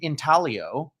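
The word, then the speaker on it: intaglio: It is It is kind of in in Talio. Yes. If you look and we we've learned the G is silent like lasagna.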